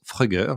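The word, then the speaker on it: Fruggr: Et justement hier, dans notre catégorie décarbonée par le digital, on a récompensé une start-up française qui s'appelle Frugger. Alors ça s'écrit F-R-U-G-G-R, mais ça se prononce Frugger, je leur ai demandé.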